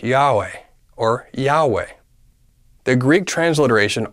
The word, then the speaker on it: Yahweh: to the syllable way when all vowels are pronounced together it sounds like Yahweh or Yahweh the Greek